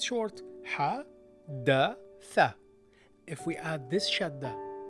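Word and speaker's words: حدّث: It's simple, it's short, حدث. If we add this shadda to the fatha on the dal, it becomes حدث. It's not حدث, it's حدث. You stress the letter.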